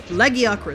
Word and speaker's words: Lagiacrus: I think it's been confirmed it's Lagiacrus. Ragiacrus, I believe it is. So, yeah. In the Japanese thing. It's Lagiacrus, so I got it right when I used to say his name back in the day.